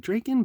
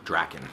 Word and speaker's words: Drakkon: look at friends and i've heard some people pronounce it draken but i mean if you want to know how to pronounce it it's lord drakken even the man himself says draken and the